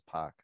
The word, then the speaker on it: Pak: yeah i know uh every korean i've ever met pronounces it as park yeah right right um